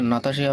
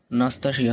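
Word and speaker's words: Nastasya: কিন্তু এখানে নাতাশিয়া বানানটা কিন্তু ভুল আছে, উচ্চারণটা নাতাশিয়া হবে না, নাস্তাশিয়া হবে। সরি, NAS তারপরে বাদ বাকি যা আছে বুঝে যাবে, নাস্তাশিয়া মিহাইলোভনা।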